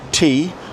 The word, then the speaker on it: TITSA: And it's spelt T-I-T-S-A.